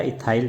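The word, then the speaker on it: ethyl: इसका नाम हो गया एथिल या इथाइल, जो भी हम बोलते हैं। एथिल बोल दो या एथाइल बोल दो, उच्चारण में कोई भी प्रॉब्लम नहीं है, दोनों ही सही हैं।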